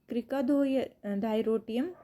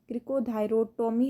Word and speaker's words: क्रिकोथायरोटोमी: इसका प्रोनाउंसिएशन क्रिकोथायरोटोमी है, जो मैंने टोमियम बोल दिया था वो गलती से था।